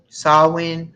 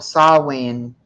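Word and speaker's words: Samhain: what does it celebrate sawing I'm sorry I pre I said it wrong okay so I'll win what is the Celtic Festival saw when in Ireland what does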